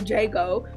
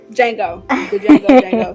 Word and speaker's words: Django: Django, same thing. I think there are so many memorable quotes from Django, such as, "The D is silent."